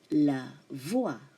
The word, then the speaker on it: voix: Most of the time, the consonant at the end of the French word is silent, like X here. So that's why you couldn't hear the sound of X. It's not la voix, but it is la voix.